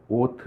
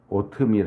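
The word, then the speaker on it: אות: 이라고 번역되어 있는 단어는 히브리어로 오트 입니다 오트 오트밀 할 때 발음하고 똑같아 오트 아 개혁에서는 이 단어를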